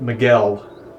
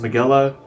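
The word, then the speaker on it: Migelo: I believe they're pronouncing that Miguel. I would have never thought that would be pronounced as Miguel. I would pronounce it as Miguelo.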